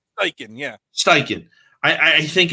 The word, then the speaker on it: Steichen: How do you pronounce his name? Steichen? Steichen, yeah. Steichen.